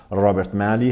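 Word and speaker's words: Robert Malley: اسرائیلی ستیزی داشته، آقای رابرت مالی که البته تلفظ صحیحش رابرت مالی هستش، ولی خب ما تو فضای جامعه ایرانی با همین رابرت، اسم رابرت مالی معانست بیشتر کردیم، من با همین تلفظ میگم.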